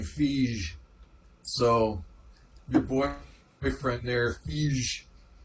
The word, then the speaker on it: Feige: Yeah, and like I said before, he told me to pronounce his name Fige.